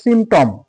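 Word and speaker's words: symptom: পি দিয়ে শুরু এস ও আর ই সূরা তাহলে আমরা পি এর উচ্চারণ পেলাম না তারপরে দেখো সিমটম এস ওয়াই এম পি টি ও এম দেখো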